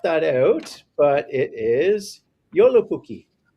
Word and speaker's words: Joulupukki: typed in and that is j o l j o u l u p u k k i Joulupukki um that uh that uh I talked